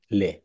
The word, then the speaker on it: les: উচ্চারণ কি হবে? লে। লে।